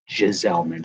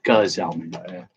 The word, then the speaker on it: Giselman: Giselman. See, I pronounced it with a silent G. Giselman, but it's Giselman. Hard G. Hard G.